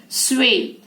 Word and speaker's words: swath: Now this SWATH is pronounced swathe.